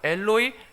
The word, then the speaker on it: 엘로이: 사박단이라고 되어 있는데 마가복음은 엘로이 엘로이 라마 사박단이라고 기록되어 있습니다. 마태는 히브리어 발음을 그대로 가져왔고요, 그럼 마가는 시리아어 발음을 가져와서 이런 차이가 생긴 것입니다.